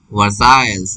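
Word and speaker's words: Versailles: हाँ, palace of वर्साइल्स इस तरह से प्रोनाउंस करता है, पैलेस ऑफ वर्साइल्स महल था।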